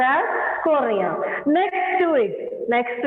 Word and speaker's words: cornea: the maximum refraction takes place and it is pronounced as Coria next to it next to it there is